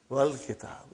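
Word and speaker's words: وَالْكِتَابُ: When it came in front of Hamzatul Wasal, you did not pronounce. You will say, Wal Kitab.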